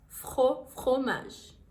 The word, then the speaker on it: fromage: Crêpe au fromage, crêpe au fromage, fromage jambon, fromage é queijo em francês, fromage.